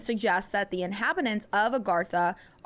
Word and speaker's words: Agartha: Agartha or sometimes spelled it's like aarti but it's pronounced Agartha is said to be a vast underground realm existing within the hollow spaces of the earth.